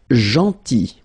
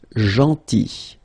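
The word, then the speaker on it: gentil: big or tall then JY so remember this final L is not pronounced jyy and it's nice or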